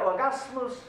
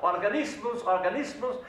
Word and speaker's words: Organismus: Ja, aber du hast das Wort Organismus nicht richtig ausgesprochen. Aber das gibt's doch gar nicht ausgerechnet bei mir. Ich kenne doch dieses Wort ganz genau. Organismus, Merkfähigkeit, steigern.